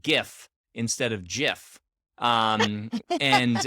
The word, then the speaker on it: GIF: friend now because so many people keep saying jif and i don't care it's gif i i'm gonna i'm i'm magician right now i don't care what the creator of it said it's gif hard g did you never heard